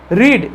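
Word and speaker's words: read: ऐसे प्रोनाउंस लिख सकते आरई डी का साउंड यानी ये कैसा साउंड क्रिएट करेगा रेड और ये भी साउंड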